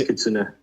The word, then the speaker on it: Kitsune: It's Kitsune. Kitsune is the accent on Kitsune. the E. I gotta make sure this is the one chance to tell me if Kitsune.